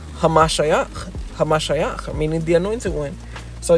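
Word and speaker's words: המשיח: In Hebrew, it's pronounced Hamashiach, meaning the anointed one.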